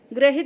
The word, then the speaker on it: ग्रहित: ग्रहित लगता है हमें कि वो ऐसा वाला जो लगता है ना नीचे ऋ वो होगा। लेकिन नहीं इसमें यह वाला र है। ग्रहित की स्पेलिंग में ध्यान दीजिएगा कि हमें लगता है कि यह सही होगा ग में लेकिन नहीं यह सही है ग्रहित।